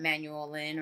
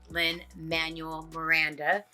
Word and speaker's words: Lin-Manuel Miranda: It is not Manuel Lin or Miguel Lin. It's Lin-Manuel Miranda.